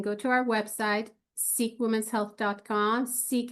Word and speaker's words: Ceek: Seek is spelled with the C, and we're happy to send them samples of the product.